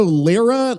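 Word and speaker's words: Lyra: Renato Lira, l y r a, which is wild.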